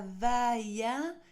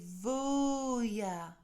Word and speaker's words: Voya: Non, ce n'est pas Vaïa, c'est Voya. Tu dois laisser glisser le V puis le O jusqu'à atteindre ton second souffle, puis prononcer ensuite le Ya en ouvrant bien ta bouche jusqu'à expulser tout l'air de tes poumons.